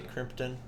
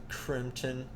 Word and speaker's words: Crimpton: world but it's not it's called crimpton and it's not with a p but you generally pronounce it as if it did have a p crimpton crimpton yeah whatever right here is